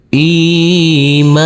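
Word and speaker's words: إيمانهم: Huruf mim kita baca panjang dengan panjang dua harakat karena huruf mim yang berfathah a ini bertemu dengan huruf alif yang tidak berharakat. Huruf mim sukun, cara bacanya kita baca sama dengan huruf m.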